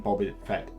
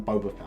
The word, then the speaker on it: Boba Fett: uh whereas you're fighting Boba Fett as a Jedi um sorry I always say Boba Fett rather than Boba Fett I know Boba Fett is the correct pronunciation this is one of